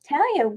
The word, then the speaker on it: Talaya: Talaya, welcome. Hi, Debbie. Hi. And it's pronounced Talaya. Oh, Talaya, sorry. It's a beautiful name, Talaya.